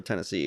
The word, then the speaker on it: Tennessee: Tennessee, as they call it. Tennessee. It rhymes with Hennessy.